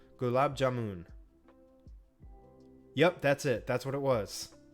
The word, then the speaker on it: gulab jamun: Gulab jamun.